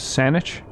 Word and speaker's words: Saanich: a neighborhood which is saanich with two a's and pronounce it like it's a niche not grabbing the gun